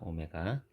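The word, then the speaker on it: ω: 자, 요거는 w가 아니라 오메가라고 읽습니다. 오메가.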